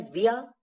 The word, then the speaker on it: via: VIA, जिसे 2 तरीके से प्रोनाउंस किया जाता है, विया या वाया।